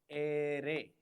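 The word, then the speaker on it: erre: Array. The pronunciation of R is array. R is pronounced as array.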